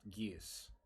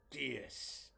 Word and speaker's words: Geas: I am going to shift back to my normal form and immediately cast Geas, if that's how it's pronounced.